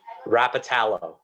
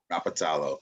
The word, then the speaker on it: Rapatalo: Rapatalo. Rapatalo. Okay. Yeah. Emphasis on the second syllable.